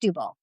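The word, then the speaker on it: Setúbal: Like it's pron spelled sat tubal but it's pronounced stubil.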